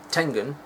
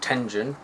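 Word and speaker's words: Tengen: later on in 1991 Tangen or tenen however you want to pronounce it which was a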